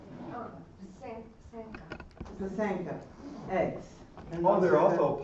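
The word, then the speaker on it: pysanka: Pazansky? Oh, Pasanka eggs.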